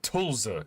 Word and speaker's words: Tuzla: The way they say Tulsa is weird. They don't say it how it's spelt, and I don't like that.